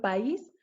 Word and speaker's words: país: un hiato por ejemplo país se está colocando el acento en la vocal débil como podemos ver en la pantalla entonces hace que esta palabra sea dos sílabas actúa también lleva el